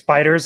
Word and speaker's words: FighterZ: They actually pronounce it as Fighters, like with an S, but it's with a Z.